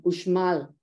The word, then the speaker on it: Uxmal: The X in Spanish in Mexico can be pronounced as X, as J, like my name, Mexico, and also as sh, like in Uxmal. Uxmal is a pre-Hispanic site in Mexico.